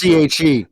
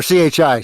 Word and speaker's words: chi: As Chinese chi or ki. Yeah, Which chi. is also It's CHE or CHI. Sorry. Yeah, Yeah, chi. and it So also can be pronounced key, and that yep.